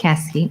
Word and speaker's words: Caskey: And then Pamela Caskey, is that how you pronounce the last name? Caskey. Mhm. Yeah.